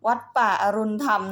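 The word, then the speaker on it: วัดป่าอรุณธรรม: ๆ ด้วย นะ คะ แม่ บ้าน พูด ผิด ค่ะ พี่ ค่ะ จะ อ่าน ว่า วัด ป่า นัน ไป อ่าน ว่า หลวง พ่อ อรุณ วัด ป่า อรุณธรรม นะ คะ พี่ ค่ะ นี่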